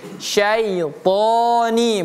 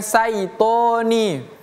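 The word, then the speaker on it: الشيطان: Auzubillahi minasya itu pakai syin syaitoni bukan sitoni ya.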